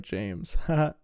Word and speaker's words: JAYMZ: Oh, it's pronounced like James.